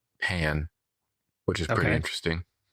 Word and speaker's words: Pin: And so they pronounce her last name as pan.